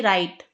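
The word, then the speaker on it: right: आई जी एच टी राइट दाया दाया तरफ राइट इसमें जी एच साइलेंट होता है राइट येलो साइलेंट मतलब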